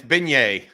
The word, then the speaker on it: beignet: question from Captain Americano Benet or king cake you gotta say it right it's beignet beignet excuse me be come